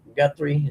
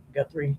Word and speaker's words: Guthrie: Gut gutri. Is that how you say it right? Guthrie.